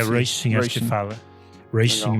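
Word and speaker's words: Róisín: É Roy Shin, né, que se pronuncia. É Roy Shin, acho que fala.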